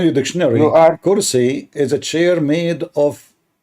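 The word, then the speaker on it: كرسي: I mean, it's kursi, not karasi.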